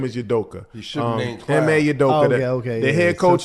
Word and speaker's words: Udoka: his name right clown his last name is yudoka yeah okay the head coach of the Boston